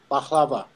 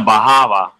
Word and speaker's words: baklava: I thought he said a bahava. No. Baklava. Yeah, he pronounced it correctly. I pronounced it like the American way.